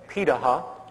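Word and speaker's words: Pirahã: gatherer societies around the world such as the Paha which is how it's pronunciated uh out of Brazil amazingly it appears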